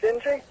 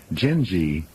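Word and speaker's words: Gindi: Ladies and gentlemen, Gingi, pronounced G I N G E, but spelled G I N D I.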